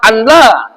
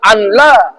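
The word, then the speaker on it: ألّا: alla kan alla baca kan aa baca anla. Nah, kalau baca anla maka batallah bacaannya. A ke ashadu al ashadu alla. Tetapi bacanya ashadu alla ilahaillallah.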